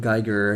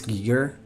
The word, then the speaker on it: Giger: And I was saying, man, I always said Geiger. I guess it's wrong. So it's Giger, H.R. Giger.